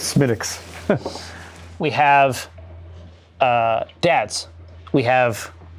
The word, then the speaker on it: Smithwick's: Yeah, Flagusko, sorry, it's not Smithwick's, it's Smithwick's.